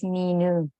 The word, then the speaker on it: Minu: How do you say your name? You're saying it wrong. Oh, say your name again. but I'm also known as Minu. Oh, Minu. I've been saying Mino all this time.